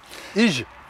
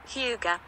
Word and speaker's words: Hygge: Ige. Non. Ige. Alors, Hyuga. voilà, ça se prononce comme ça, Hyuga.